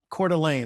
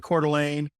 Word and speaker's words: Coeur d'Alene: So I've got a friend of mine that lives in Coeur d'Alene.